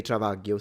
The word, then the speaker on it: travaglio: Yeah, The Sicilians say travaglio. So we pronounce it the same.